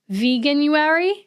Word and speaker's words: Veganuary: a vegan in February veganuary is how you pronounce it I don't know what